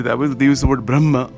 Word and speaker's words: Brahman: they use the word Brahma or Brahman sometimes just pronounced that way but it's really Brahma I don't know why they say Brahman you know but I think in Sanskrit sometimes they put an end with like a half mark at the end um so I don't know much about that but but that's it's pronounced both ways apparently uh you know so